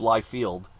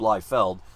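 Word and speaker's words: Liefeld: mispronounced that Rob lield who I always thought was Rob Li field but it's Rob lield and the late great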